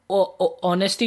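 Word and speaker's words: honesty: अच्छा यहाँ पे हम ऑनेस्टी जो है ओ वाली साउंड दे रहा है, तो हमने देखा था कि हा जो है हमारा हा जो एच है हमारा हा वाली साउंड भी देता है और साइलेंट भी होता है, तो चलो एन लगा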